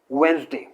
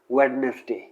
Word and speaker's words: Wednesday: अगला वर्ड है वेंसडे, इसे कई लोग प्रोनाउंस करते हैं वेडनेसडे, जो कि गलत है क्योंकि इसमें डी है, उसे अगेन साइलेंट किया जाता है, that is not pronounced with this word।